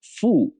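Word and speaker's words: 父: close look at this the upper part is pronounced fu fu meaning fatha it gives meaning to ba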